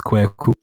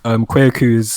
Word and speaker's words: Kwaku: So, the official Ghanaian way you want to pronounce it is Kwaku. But I'm also aware that not everyone has the vocals to produce that type of sound. So, Kwaku is the next best thing.